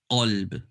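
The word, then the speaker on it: قلب: The first one is kalb, ka. The second one is qalb. So I'm going to just say the first letters, ka, qa. Notice the difference, ka, qa. The second one is full mouth, okay?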